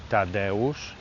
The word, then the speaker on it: Tadeusz: And we're going to go see the museum of Tadeusz Kościuszko. That's how you say it. Say it after me. Tadeusz Kościuszko. Again. Tadeusz Kościuszko. I'm not going to tell you how to spell it there.